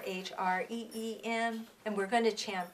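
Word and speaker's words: hrim: at it it's here H R I M or H re eem and we're going to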